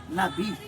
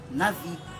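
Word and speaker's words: נביא: Em hebraico ele é Nabi, mas em brasileiro, em português, a gente pronuncia Navi, que significa profeta, aquele que é embaixador, que é enviado para as missões.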